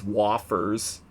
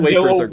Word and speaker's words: wafers: H's first item is vanilla wafers, but Link incorrectly pronounces them as waffers. Lord have mercy. I did. Vanilla w Hey, vanilla wafers.